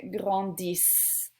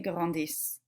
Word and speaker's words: grandissent: This would be pronounced ils grandissent. Remember, with our plurals, we do not pronounce the ending. So I'm going to put this in some weird color. I don't know. Dark-ish. Okay, so there is an ENT ending, but we don't pronounce it.